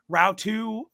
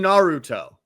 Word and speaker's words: Naruto: Now, Rautu, I'm so sorry if I butcher that. I did the best that I could. Did you mess up saying Naruto? How? It's 3 syllables.